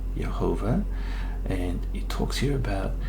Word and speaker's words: Jehovah: is pronounced it's got the full vowel so pronunciation is right there it says jehovah all right and that's the proper name of